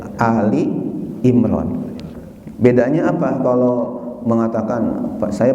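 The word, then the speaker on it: آل عمران: Bacanya kadang-kadang ada yang baca surah Al Imran, itu salah ya. Jadi yang benar adalah Ali Imran.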